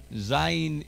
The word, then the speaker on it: zayin: Zayin is a z sound, z, z, like in Zorro, Zorro.